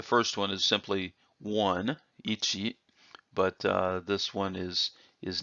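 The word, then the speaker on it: 一: one two the first one is simply one ichi but this one is is knee so one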